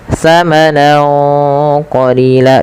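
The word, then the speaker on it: ثَمَنًا قَلِيلًا: Cara membacanya yaitu samarkan suara nunnya kepada huruf qf awalnya tsamanan karena bertemu qof tsaman qolila dan ditahan dengungannya sepanjang dua harakat.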